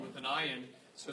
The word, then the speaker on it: ayin: you were taught that the letter ayin is silent. That is not correct. According to Torah, ayin, which is the letter all the way down here in the 70 position, ayin is a guttural letter.